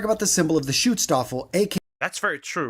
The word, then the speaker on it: Schutzstaffel: That's the right pronunciation. Schutzstaffel.